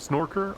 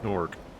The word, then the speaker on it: Snork: It's not Snorer. I believe it's just Snork. Yeah, I've been say I think I've been saying it wrong this whole time.